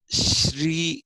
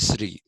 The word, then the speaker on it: Shri: so it is Shri Shri is how you have to pronounce it in Sanskrit in Telugu people say SRI that's a different issue